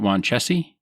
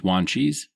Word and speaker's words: Wanchese: We've got Wanchese, which was a Native American leader from Roanoke Island. I would have pronounced it Wanchese, but it's Wanchese.